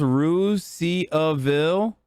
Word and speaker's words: Russiaville: There's a Russiaville in Indiana that's pronounced Ruse-Ville.